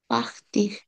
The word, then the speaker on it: partir: de partir পাখতি হবে à না, কারণ আই আর দিয়ে শেষ হওয়া ভার্ব গুলো যদি লাস্টে আর থাকে par- অবশ্যই আর উচ্চারণ করতে হবে, পাখতিখ, partir বলা।